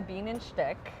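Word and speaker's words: Bienenstich: all right okay so here we have a bean and stick that's how you pronounce it how is that spelled it's long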